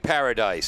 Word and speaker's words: Paradise: Pronounced just like paradise, says one of our North listeners.